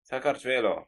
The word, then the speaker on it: Saakashvili: Sorry, you pronounce it for me, please. Saakashvili.